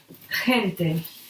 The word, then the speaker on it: gente: But in front of E and E is pronounced he. It's pretty strong. He. For example, we can say gente, people.